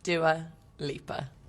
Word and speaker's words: Dua Lipa: long story cut short how is Dua Lipa pronounced Dua Lipa it's quite easy although growing up I feel